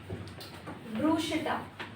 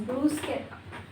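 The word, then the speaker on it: bruschetta: salmon सालन pizza no pizza pizza pizza almond no this is almond Q this is कीनवा कीनवा ब्रूसिटा no this is ब्रूस्केटा ब्रूस्केटा x academic words education से related academic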